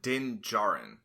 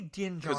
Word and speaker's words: Din Djarin: I think is it Jin or is it Din Djarin? It may be Din Djarin because it's spelled D-I-N, so I think it's Din Djarin, which is an easy name to then mess up or kind of.